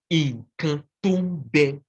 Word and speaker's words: Candomblé: Okay, so Candomblé, although it is a Portuguese word, when you pronounce it in the Yoruba way, it is Inkantombe, Inkantombe, which means what is